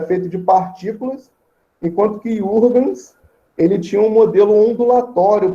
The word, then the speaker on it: Huygens: Eu não sei bem pronunciar o nome dele, cada uma pessoa pronuncia de um jeito. Eu falo Huygens, tá?